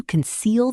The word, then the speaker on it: conceal: The first part is light and quick. Don't say conceal. Keep it relaxed. Conceal. Try this sentence. She tried to conceal the truth. And again, with the stress on seal.